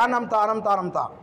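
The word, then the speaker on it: أنعمت: হবে উচ্চারণ ভুল হবেনা এখানে আমাদের হয়ে যায় আনমতা আনামতা দুইটাকে আমরা আলিফ হামজা পড়ি একটা আলিফ দ্বিতীয়টা আইন এজন্য প্রথমটা হবে আন নরমাল ভাবে দ্বিতীয়টা হচ্ছে আম আন আম আন আম তো এটাও আমাদেরকে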